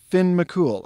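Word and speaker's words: Fionn mac Cumhaill: this is pronounced dun leary and this is pronounced finn mccool i kid you not no you can ask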